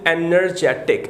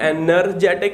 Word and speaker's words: energetic: Okay, the pronunciation of एनर्जेटिक, some students pronounce it energetic. It is not energetic, it is energetic.